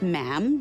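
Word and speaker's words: ma'am: um and after that it's just mam rhymes with jam and it's always a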